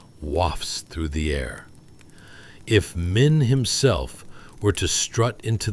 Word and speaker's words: Min: Mini, I mean men.